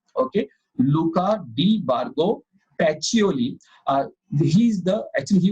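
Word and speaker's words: Pacioli: luca d bargo pacholi the pronunciation is patcholi okay luca de bargo pachioli uh he's the actually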